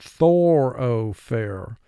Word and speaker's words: thoroughfare: brace, by the thoroughfare, for spelling pronounce it thoroughfare. First syllable, thor, 2 sounds, th, or. O, 1 sound.